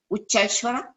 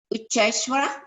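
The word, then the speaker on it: Uchchaihshravas: Ucheshwara. Okay, very good. Say it again, please. Ucheshwara. Ucheshwara. Oh, Ucheshwara? Okay. He Ucheshwara.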